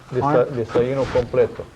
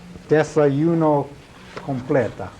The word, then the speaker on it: Desayuno completo: How do you pronounce that again? Desayuno completo. Desayuno completo. Yeah. Okay, I got it. Desayuno completa.